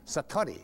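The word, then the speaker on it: satori: it's called sati I'd love to say that sati s a t o r i and it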